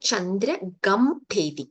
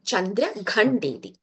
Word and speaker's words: चन्द्रघण्टेति: It is not Chandra Gamtheti. It is Chandra Khandi. Gha. You know, Gha. Ghadi ka. Ghadi. You know, Ghadi ka gha? Yeah, that gha. Chandra Ghandeti.